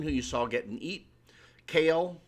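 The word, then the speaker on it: Kael: Kale, which Polarium mispronounces as Kyle.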